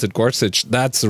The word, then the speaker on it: Gorsuch: judge Gorsuch you remember they kept calling him Gorsuch and I I had I heard an interview with the guy where the interviewer asked him how is your name pronounced he said it's Gorsuch and everyone the BBC